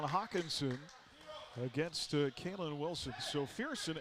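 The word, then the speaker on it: Firson: against kayln Wilson so fieron f i r s o n he and Brett Favre the only two people I have ever heard of who although the r is first it is pronounced second English language is a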